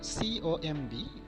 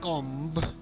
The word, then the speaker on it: comb: For example, the letter B is found silent after M and before T. So C-O-M-B, it is not comb, it is comb.